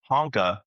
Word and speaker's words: Honka: of all, I'm like, "What did you say her name was again?" Honka. Okay. You'd be like Tonka Uh, truck? No, like if you were to honk on the Tonka.